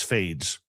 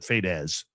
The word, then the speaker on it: Fadez: I still think it's Fades, but it's apparently that she pronounces it Fadez.